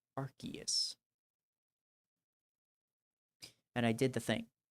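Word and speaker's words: Arceus: Arus is shiny. Good. I literally just did the thing that I get on other people about. He's literally officially pronounced Archus.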